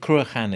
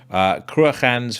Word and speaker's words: Cruachan: I believe Cruachan is how you pronounce that name, but again, I speak under correction.